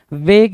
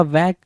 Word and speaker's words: vague: लेकिन यहाँ पे क्या लिखा हुआ है, वैग लिखा हुआ है ना, वेग या वैग। तो इसकी मीनिंग क्या होगी, इसकी स्पेलिंग क्या होगी, VAGUE, वैग, ठीक है, VAGUE, वैग।